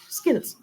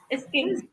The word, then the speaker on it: skills: Start only with s. Skills. Skills.